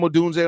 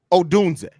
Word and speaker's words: Odunze: You added an extra E before the Z. Take that chocolate out your ear. I said Odunze. That's not how you say it. There's an N in there.